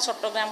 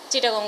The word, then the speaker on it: চট্টগ্রাম: উচ্চারণ করি না হইতে তাহলে তারা চট্টগ্রাম কঠিন শব্দ ওরে সহজ করে দিয়ে চিটাগং উচ্চারণ করে খুব সহজে বেগুন উচ্চারণ করি ফেলাইতে কিন্তু আর আসল শব্দ